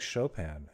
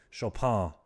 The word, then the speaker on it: Chopin: He, much like Chopin, actually, Chopin, if we're being proper, I suppose.